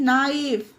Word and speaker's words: knife: KNIFE, नाइफ। के बाद एन आया तो यहाँ पर के साइलेंट है तो ये पढ़ा जाएगा नाइफ।